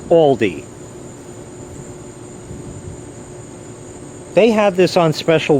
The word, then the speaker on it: Aldi: want to pronounce it here in the us it's pronounced aldi they had this on